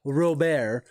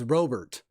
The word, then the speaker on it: Robert: a lot of people that thought it was pronounced real bear because they thought it was uh um spanish and he said no it's robert um there's an albies a muncie cal ripken